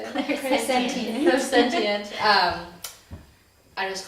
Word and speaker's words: clairsentient: Clairsentient.